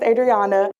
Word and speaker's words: Adriana: My name is Adriana, aka OG Adriana.